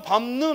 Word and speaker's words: 밟는: 그냥 밟는 하고 미음으로 바뀐다고. 알겠어요? 그러면 이제 우리가 또 동화가 일어났다 이런 식으로 또 따로 말을 해야 되는 거고. 그러니까 일단은 자꾸만 입으로 소리를 내면서 자연스럽게 발음을 해봐야 돼. 그럴 때 밥다, 밥소, 밥지 하지만 밟는은 미음으로 밟는. 왜? 뒤에 니은 때문에 영향을 받은 거야.